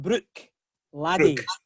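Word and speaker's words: Bruichladdich: They tell you should call it brook laddie.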